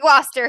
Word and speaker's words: Gloucester: so We pronounce it Gloucester here in New England, so I don't know if it's still Gloucester yeah, in the UK.